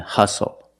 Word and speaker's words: hustle: We also see the silent T when you have the spelling pattern S-T-L-E. Like these words, whistle, castle, and hustle.